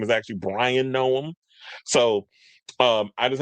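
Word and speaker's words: Bryon: I called him Byron, which I just did. His name is Bryan. B R Y O N. So, I've been calling him I've been saying his name wrong all the time. I was like, why are you spelling your name like that? So, I had a little dyslexic moment and I was calling him Byron, but his name is actually Bryan Noem.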